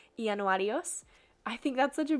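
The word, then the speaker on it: Ιανουάριος: So January in Greek looks like this, and it's pronounced Ianuarios.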